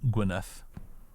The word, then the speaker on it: Gwynedd: Because the Y in Welsh is like an sound, isn't it? And the DD is a th sound, so Gwynedd.